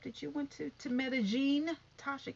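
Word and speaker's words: Medellín: on the trip that you went to to medellin tasha k that's how you pronounce it medellin that's how you pronounce it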